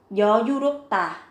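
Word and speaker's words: 여유롭다: Yoyurukta, các bạn chú ý về cách phát âm, mình đã lưu ý phần chữ màu xanh, gấp đôi phụ âm tờ lên.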